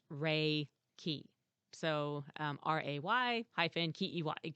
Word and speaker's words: Reiki: of different words and it's actually pronounced rey key so um r-a-y hyphen